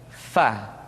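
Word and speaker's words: ف: Diucapkan dengan menyentuhkan ujung dua gigi seri kita bagian atas dengan bibir bawah bagian dalam. Fa. Seperti kita mengucapkan huruf F di dalam huruf Latin.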